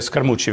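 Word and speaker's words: Scaramucci: найактивнішого прибічника трампа Ентоні скармучо це скармучо вірніше так правильно його вимовляти його ім'я це колишній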